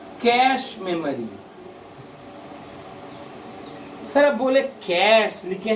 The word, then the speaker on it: cache: सर अब बोले कैश, लिखे हैं कैचे, तो भाई इसको कैचे नहीं कहते हैं, इसको कैश ही कहते हैं। CACHE, कैश, पैसा, CASH है ना, इसको लेकिन प्रोनाउंस भी कैश मेमोरी होता है।